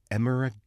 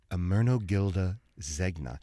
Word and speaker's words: Ermenegildo Zegna: and I don't even know if I can pronounce this designer's name. Let me give it a shot. It is Emeragildo? Ermenegildo Zegna. Ermenegildo Zegna.